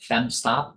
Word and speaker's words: FemoStop: In the case of the femoral, right here, this term here called femostop, that's pronounced femstop. Just put the O silent. Okay, femstop.